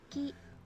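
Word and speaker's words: き: Whereas this one is key, or like in English key, like you're keying a lock. That's how I remember this one. Ki.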